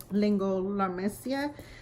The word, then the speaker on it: laryngomalacia: let Lehren go Malaysia you pronounce it lingo la mesilla he's been diagnosed with